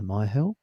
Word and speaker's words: Myhill: Myill. So I hope I'm pronouncing your surname correctly.